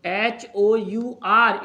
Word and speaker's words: hour: But if you are writing HOUR, it is pronounced as or या our भी कुछ लोग पढ़ते हैं, right? H is silent here, so you will say an hour, an hour.